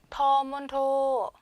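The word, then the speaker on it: ฑ มณโฑ: 자, 그 다음 자음 보시면 터문토, 터문토, 터문토. 다 평성이죠.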